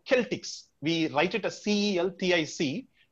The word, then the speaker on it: Celtic: in the mid-first century where they are called celtics we write it as c-e-l-t-i-c but it is pronounced as celtic because the the word is